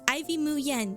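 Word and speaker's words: Ivy Muyen: however you want, but the way I pronounce it is ivy mu yen. So, ivy like the ivy plant, and then mu yen like moo like a cow, and then yen like the Japanese currency.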